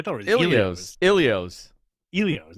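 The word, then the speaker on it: Elio's: Isn't it Ilios? I thought it was Elios. Ilios. Elios, not Ilios.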